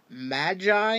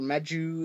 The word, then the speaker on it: Magi: Now, he does come with a little Arms Micron praying mantis called Magi, is how it's pronounced in English. Magi or Maju in Japanese.